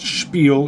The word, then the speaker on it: spiel: on a spiel and yes it's pronounced spiel it's German did anything anything I